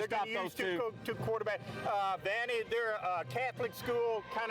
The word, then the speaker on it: Vianney: Louis Vianney, I think I'm pronouncing that right, Vianney.